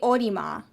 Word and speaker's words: Olimar: we need you yeah because it's in japanese it's mario backwards is that not the case is it like katakana it would be mario backwards it would be orima orima should be orima so there's like an